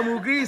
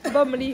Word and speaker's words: bomli: C'est pas Mougli, c'est Bombli. Bomli.